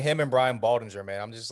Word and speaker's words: Baldinger: love doctor it's between like him and brian baldinger man i'm just like taking both literally give him my helmet let's go can you say his name right it's bald dinger dinger ding what did i say danger danger